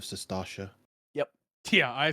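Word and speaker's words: Sastasha: like saying Satasha instead of Sestasha.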